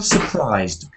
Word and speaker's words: surprised: she was a little surprised so there must be little soft sound at the end otherwise it sounds like the present uh surprise surprised surprise